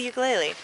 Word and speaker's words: ukulele: can i talk about the ukulele which is pronounced ukulele for those of us